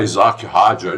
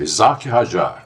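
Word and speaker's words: Isack Hadjar: Esse é o esse é a pronúncia eh do Rajá certa, né? O pessoal aí tá falando em inglês. Ah, Isaac Rajar, isso não existe, né? Ele é francês. É Isaac Rajar que fala.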